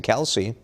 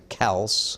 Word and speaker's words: Kelce: How about singer-songwriter Billie Eilish or Eagles center Jason Kelce? Those are both wrong. Billie Eilish, Jason Kelce. You can see what. First, who's saying Eagle? How often is Jason Kelce in the news?